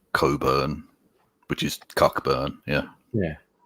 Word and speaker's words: Cockburn: I got Musical Aviator asking, do we pronounce Gaylord strange like the Perth suburb of Coburn, which is spelled Cockburn.